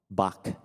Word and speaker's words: Bach: of Bach Johan Sebastian Bach Bach b I hate pronouncing it like that but that's the right way B one bar of